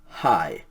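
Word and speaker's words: αἱ: breathing mark on it it is alpha yota with a rough breathing mark so it's pronounced high the genitive feminine plural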